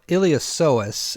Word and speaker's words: iliopsoas: be hip flexors so iliopsoas is usually how you hear that pronounced although I have heard professionals say iliopsolus where they hit that P hard I'm guessing it's potato